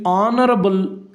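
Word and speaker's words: honourable: ಈ ಆನರಬಲ್ ಈ ಪದದ ಮೊದಲ ಅಕ್ಷರ H ಇದೆ. H ಕಾನ್ಸೋನೆಂಟ್ ಲೆಟರ್ ಆಗಿದೆ. ಆದರೆ ಈ Hನ್ನು ನಾವು ಇಲ್ಲಿ ಉಚ್ಚಾರಣೆಯನ್ನು ಮಾಡೋದಿಲ್ಲ. H in this word is silent. H ಈ ಒಂದು ಪದದಲ್ಲಿ ಸೈಲೆಂಟ್ ಅಕ್ಷರವಾಗಿದೆ.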